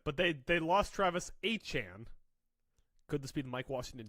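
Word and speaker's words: Etienne: They lost Travis ETN. Could they go? Mike Washington Jr. here. They can't find him. They don't know where they put him. He renamed himself. He says it's pronounced Achan.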